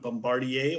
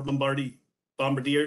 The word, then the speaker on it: Bombardier: So this is the 100th snowmobile season anniversary since it was invented by Joseph Armand Bombardier, or Bombardier, depending on how you want to pronounce it.